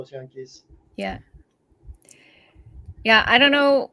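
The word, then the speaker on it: yanqui: you read the subtitles it's spelled y-a-n-q-i or q-u-is that's the Spanish spelling is the Spanish spelling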